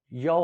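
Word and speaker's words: 幺: तो इस तरह के नंबर के लिए जब 1 को प्रोनाउंस किया जाता है नंबरिंग में, तो फिर हम इसको क्या कहते हैं, इसको हम कहते हैं याओ हम कहते हैं 1 को, जब आपने नंबर्स को एक्सप्लेन करना होगा।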